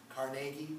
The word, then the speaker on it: Carnegie: a metaphor but the person is andrew carnegie carnegie proper pronunciation i don't care what she says andrew